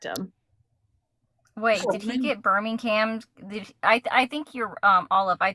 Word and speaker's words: Birmingham: I have something very important to say, and it's that you're all pronouncing it wrong. It's Birmingham.